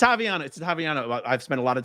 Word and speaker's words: Ottaviano: It's Ottaviano. I've spent a lot of time remembering how to pronounce last name.